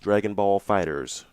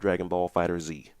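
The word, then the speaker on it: Dragon Ball FighterZ: mm-hmm so we'll see which is apparently pronounced Dragonball fighters not Dragonball fighters Z which is weird oh really cuz I've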